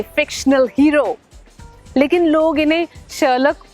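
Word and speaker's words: Sherlock: हीरो लेकिन लोग इन्हें शलक होलम्स कहते हैं क्यों शलक भी नहीं है शलॉक शलॉक होम्स एच ओ एल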